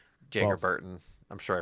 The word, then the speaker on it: Jagger: It's Jagger Burton. I'm sure I pronounced his first name wrong again. Jagger, you're you're fine.